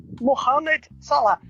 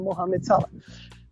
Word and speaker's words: Mohamed Salah: né fez chuva e a sadio mané e mohamed salah muita gente fala mohamed salah vocês me permitam